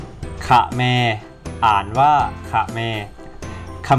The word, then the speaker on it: เขมร: กับ วัน ที่ 3 ค่ะ แม่ ก็ อ่าน ว่า ค่ะ แม่ ขะ แมร์ อ่าน ว่า ค่ะ แม่